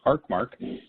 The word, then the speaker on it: Arcmark: His name is Bryon McCartney, and he is a managing partner and the chief idea guy at Arcmark, pronounced Arcmark, architect branding and marketing in Estero, Florida.